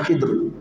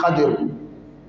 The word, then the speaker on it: Khidr: Dans les hadiths authentiques, son nom n'est pas mentionné, mais certains savants disent qu'il s'appelle Khidr. D'autres disent Khidr, d'autres disent Khadir. Khidr, d'autres disent Khidr, d'autres disent Khadir. La prononciation.